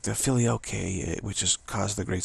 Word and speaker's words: filioque: That's the filioque. Filioque. Okay, now we have the right pronunciation.